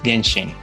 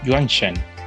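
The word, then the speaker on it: 原神: Well, this depends on the fact that the developer uses Japanese pronunciation Genshin for this word, not only for the Chinese market, but also for the global market. And this is very interesting because this Chinese character of pronunciation is not Genshin, but Yuanshen, and Korean read this word as Wonshen.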